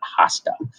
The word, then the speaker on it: hasta: Remember, we don't pronounce the H, we don't pronounce the H, it's not hasta. So hasta mañana, hasta luego, hasta pronto, hasta la próximo.